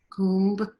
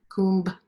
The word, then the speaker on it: Kumbh: 4 places every 3rd year, what's called the Kumbh Mela, Kumbh, K-U-M-B, Kumbh, you say it like that, means nectar.